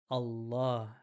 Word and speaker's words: Allah: Allah starts with an alif, so you actually say ah in the beginning.